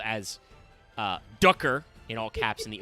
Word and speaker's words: Ducker: They printed the card finally, which is just called as Ducker in all caps in the OCG, which is pronounced Daka.